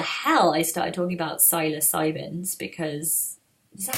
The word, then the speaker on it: psilocybin: Anyway, so yeah, I don't know why the hell I started talking about psilocybins, because is that how you say it? Psilocybin.